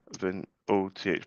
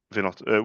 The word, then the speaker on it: Vinoth: Vi, Vinoth. With a H, Vinoth or Vinot?